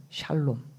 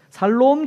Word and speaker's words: 샬롬: 샬롬.